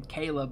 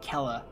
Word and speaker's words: Kela: kayla defame here where i think it's interesting that kayla herself pronounces her name kayla but if i'm not mistaken uh what's that woman's name i can't remember her name the grenier defector lady pronounces it kella so i mean potato potato whichever all right so to